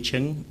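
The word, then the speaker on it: Ch'ng: is Eugene Cheng, and that's how you pronounce a surname without a vowel.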